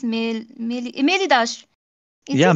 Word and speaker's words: Meliodas: If I pronounce it wrong, I'm so sorry. But I think it's Melidash. Is Yeah, it? Meliodas.